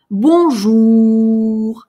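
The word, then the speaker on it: bonjour: «Бонжур». Давайте попробуем произнести. Важно здесь звук «у». «Бонжур».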